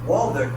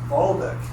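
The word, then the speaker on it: Waldek: So you think it's Waldeck, but in Polish it's pronounced Waldeck. You can't pronounce the W like a V.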